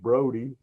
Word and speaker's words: Brody: a notable early resident George Brody bro is actually how the family pronounced their his name advertised himself extensively